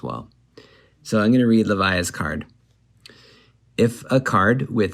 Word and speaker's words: Levia: the shadow brute levia last episode i called her levia i think the developer said you can pronounce it how you want but leviah does sound cooler it's like leviathan like she's got some beast lurking deep inside her or in her adult